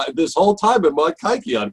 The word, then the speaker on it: kykeon: i pronounce it it's it's not the way a modern greek would pronounce it i have what's what's